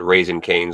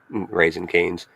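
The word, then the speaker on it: Raising Cane's: I always call it raisin canes like with no G, but maybe that's just the way I pronounce it. I, you know, it's always raisin canes.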